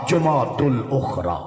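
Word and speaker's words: جمادى الآخرة: الثانی اصل صحیح گرامر دے لحاظ انہا صحیح تلفظ ہے جماد الاولا جماد الاخرى اتلو ہی چاہتا سنتواری زبان ہے رجب کن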